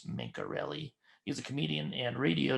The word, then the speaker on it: Mencarelli: I had to ask him how to pronounce it. It's Mencarelli.